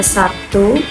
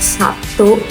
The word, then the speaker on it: Sabtu: Kalau misalnya Sabtu itu kan sebenarnya tulisannya S A B T U gitu ya. Tapi kenapa kita tuh soal bacanya kayaknya P Sabtu gitu ya, bukan Sabtu ya enggak sih?